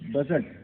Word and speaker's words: budget: इसी तरह देखिए बजट। बजट में भी आपको डी कहीं डी का उच्चारण नहीं होता, तो BUDGET, बजट हो गया, इसका मतलब लेखा।